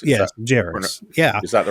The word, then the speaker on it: Jarrus: Yes, Jarrus. Is that the right pronunciation?